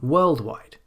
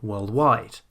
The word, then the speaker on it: worldwide: So instead of saying worldwide, we say worldwide.